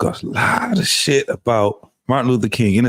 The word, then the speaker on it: Martin Luther King: They don't even know how to pronounce his name right. Martin Luther the King, Martin Lucia King.